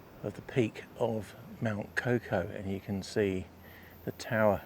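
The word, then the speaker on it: Kaukau: Mount Coco you'll hear referred to quite frequently in Wellington and New Zealand as Mount Cowcow. Uh but Cocoa is the correct moldy pronunciation.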